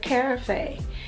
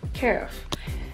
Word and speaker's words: carafe: I've been calling it carafe, and that is not how it's pronounced. It's pronounced carafe.